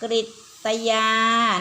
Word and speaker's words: กฤตยา: ตา เรือ กรณี ตย สะอ่าน ว่า กฤตยา นะ ครับ กฤตยา ออก เป็น สระอิ นะ คะ อ่าน ว่า กฤตยา แปล